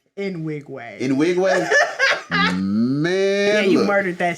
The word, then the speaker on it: Nwigwe: Last one I seen was Toby Nigway. How you say his name? Nwigwe.